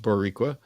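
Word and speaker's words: Boricua: from uh Mr boriqua pronounced boriqua roll the r a tiny bit boriqua Plus have Ian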